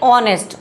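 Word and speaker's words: honest: अब देखते हैं, ऑनेस्ट एच से स्टार्ट है लेकिन हमारा एच क्या होता है, साइलेंट होता है, हम इसको कहते हैं ऑनेस्ट।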